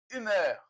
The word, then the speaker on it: humeur: Olha o biquinho, de bonne humeur. Quando for fechado, fecha muito. Quando for aberto, abre muito, tá? Então, gesticula aqui, ó, a boca, tá? É a dica de pronúncia, a primeira dica de pronúncia aí da aula. Humeur. Tudo bem fechado.